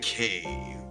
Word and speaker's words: Takei: Takei rhymes with gay.